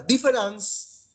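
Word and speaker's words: différance: Es una palabra nueva que inventa, pero sí se pronuncia igual que la palabra diferente en francés.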